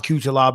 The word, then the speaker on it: Cuțelaba: the weekend you want kutol arbor I on is how I thought it was with E 1 q2 lob is how you pronounce it taking on magum ed